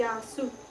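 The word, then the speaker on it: γεια σου: say hello y y it's spell g e i a it's pronounced y pretty much s o u y yasu yasu yasu wow then he says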